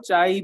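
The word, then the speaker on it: chi: चाई ए और चाई बी। कैसे प्रोनाउंस करते थे? चाई ए और चाई बी।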